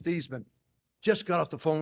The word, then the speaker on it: Theismann: How do you pronounce our last name? I'll explain it later." He said, "It was Thman." Hung the phone up. I turned to Roger. I said, "Raj, my last name is Theman."